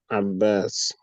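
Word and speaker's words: عباس: This name is not properly pronounced. There's a shadow on the bar. So it's Abbas.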